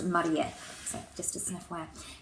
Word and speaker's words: Marie: I don't know what we would define that as, but in Japanese it's actually pronounced Marie.